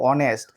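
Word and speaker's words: honest: এখানে দেখো উচ্চারণটা হনেস্ট হয়েছে না, উচ্চারণটা কি হয়েছে? অনেস্ট।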